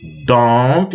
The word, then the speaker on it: don't: Praticamente você não escuta a pronúncia desse T, né? I don't like.